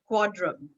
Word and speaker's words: Quadrum: He is a member of Pakistan's only percussion band, Quadrum. Am I pronouncing that right, Saad? Yes, that's Quadrum. right. Yes, Quadrum.